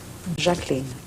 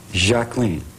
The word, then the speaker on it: Jacqueline: Jacqueline. Jacqueline. Which is French.